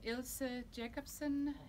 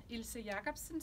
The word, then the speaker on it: Ilse Jacobsen: to talk about is the ilsa jacobson ilse jacobsen scope and they're from denmark so um that that's how you say it in danish and they are super